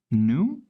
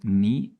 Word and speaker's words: nu: G * 1 + new this is the Greek letter new or ni depends on um how you want to pronounce it and also equal to 3 * bulk modulus * 1 - 2 knee.